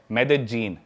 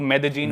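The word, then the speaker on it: Medellín: उसकी एक सिटी है मेदजीन। स्पेलिंग में उसमें डबल एल आते हैं। मेदलीन होता है। लेकिन कोलंबियन स्पेनिश में ल को ज बोलते हैं। तो मेदजीन वो शायद उसकी मेन सिटी है ना उस कंट्री।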